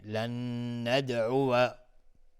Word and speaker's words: لن ندعو: لن ندعو، اینجا روی واو فتحه گذاشته، میگیم لن ندعو. ممکنه بعضی تلفظ کنن لن ندعو، لن ندعو، لن ندعو. پس باید دقت کرد که اینجا واو فتحه داره.